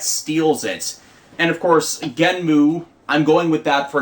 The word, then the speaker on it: Genm: He steals it from Genmu, Genm. That's how people are spelling it. It's spelled with the characters for Ge and Mu, so might just be Genmu, might be Genm with the oo sound gone, and the show hasn't started yet.